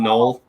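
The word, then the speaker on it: Knull: No, it's K-N. I assume that the K is silent. I call it Null, but okay.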